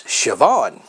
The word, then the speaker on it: Siobhan: that's right and for example how would you pronounce this girl's name on your screen no and that's siobhan how about this one sin head no that's